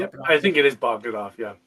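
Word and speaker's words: Jon Bogdanove: I never know how to pronounce it. I think it is Bogdanov, yeah. Bogdanov, yes, the creator of Doomsday.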